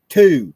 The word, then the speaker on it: two: Two. T O. No, there's a W in it. T Wo. The the W is silent.